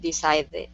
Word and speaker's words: decided: are tricky yeah so with decided you're saying yeah you're saying de decide that they and so once you get to the ending of decided this you're you're pronouncing Spanish D's instead of instead of English D's yeah this would be